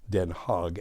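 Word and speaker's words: Den Haag: utre Amsterdam the heag den hog as the Dutch pronounce it antp gent leil C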